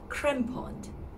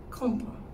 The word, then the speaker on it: Crampon: it's actually buffet buffet the second word naturally is not crempond it has a com sound with a little bit of r in the middle so it's like compliment component if i combine both